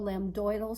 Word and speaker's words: lambdoid: So lambdoidal suture is how you say that. On the sheet it says lambdoid suture, but you can say lambdoidal also.